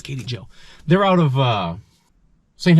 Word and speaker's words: KTJO: this is actually pronounced Katie Joe 4x4 right KT Joe uh because the lady who runs the place name is Katie I don't know everybody